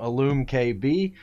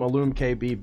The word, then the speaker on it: iLumKB: unboxing satisfaction 75 from illume kb i hope i'm pronouncing that right i assume it's pronounced like illumination as that is how it's spelled but uh yeah so